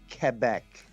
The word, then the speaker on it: Quebec: pronounced it's properly pronounced quebec so k is like think of it this way k-e-b-e-k all right my new